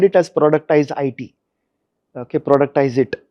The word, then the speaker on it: productize IT: Okay, productize it is what how you would pronounce it.